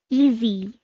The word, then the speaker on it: easy: easy good job so when you say easy you pronounce it like it's z easy that's right you learned